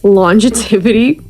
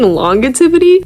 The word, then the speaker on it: longevity: Hey y'all, can I just say I keep mispronouncing longevity? I keep saying longetivity.